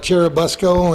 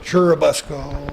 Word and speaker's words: Churubusco: Well, we still call it Cherubusco, and Yes. I've heard people call it Churubusco, and, Yeah. Some of these North Country names lend themselves to various pronunciations.